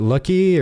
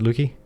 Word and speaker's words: Lukey: Is it Lucky or Lukey? How do you pronounce that? Lukey. Is it Lukey?